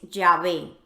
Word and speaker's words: Yahvé: H, B, H, y cuyo sonido fonético más cercano es Yahvé.